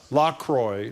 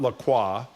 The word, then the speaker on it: La Croix: La Croix is pronounced from their website La Croix, not La Croix, and no mention of PFAS content on the webpage.